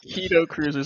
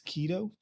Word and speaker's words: Kaido Kruzers: I don't know these pronunciations. That's on me. Kaido Kruzers. I was like, do we have like a Oh, I said Kaido. I said Kaido. All right. franchise? My apologies. You said it's keto.